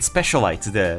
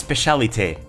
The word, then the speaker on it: Specialite: Uh the correct pronunciation is in French. It's Specialite.